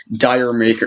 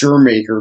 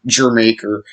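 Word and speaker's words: D'yer Mak'er: who it's it's pronounced your maker because it's a it's a it's a a pun on uh jamaica you know jamaica the country jamaica uh and um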